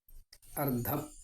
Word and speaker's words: അർദ്ധം: അർത്ഥം, അർദ്ധം. ഇവിടെ ധനാർത്ഥം ആണ്. ഒരു ചെറിയ ഉച്ചാരണത്തിൻ്റെ വ്യത്യാസം കൊണ്ട് അർത്ഥം വളരെ വ്യത്യാസം വരും. അർദ്ധം പകുതി, അർത്ഥം സ്വത്ത് മുഴുവൻ.